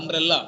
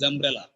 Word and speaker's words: umbrella: sir umbrella very good it's umbrella not umbrella because one more important thing is there is no doubling of sounds in English th the word has double consonant together the sound is only for single consonant it's not umbrella is umbrella it is not sitting